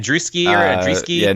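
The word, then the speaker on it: Andreescu: How do you pronounce her name? Andruski or Andreski? Yeah, Andruski.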